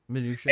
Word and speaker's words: Mnuchin: And how do you pronounce his name? Mnuchin. Oh yeah, Mnuchin.